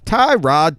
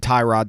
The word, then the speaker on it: Tyrod Taylor: His name is pronounced Tyrod Taylor.